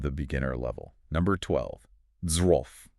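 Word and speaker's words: zwölf: beginner level, number 12, z. Just looking at the spelling is intimidating. Z W LF. You got the sharp Z, the W acting like a V, the OML, and then that LF cluster.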